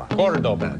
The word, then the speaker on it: Cordoba: The accent's on the first syllable. Cordoba. Ta-ta-ta. Cordoba.